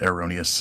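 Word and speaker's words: Heironeous: He pronounces it Eerrronius is that that's how the guy pronounced it in the vision.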